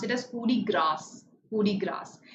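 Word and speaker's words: coup de grâce: some signs to focus on pronunciation and they pronounce it as foodie grass hoodie grass grace is also accepted because it has been adopted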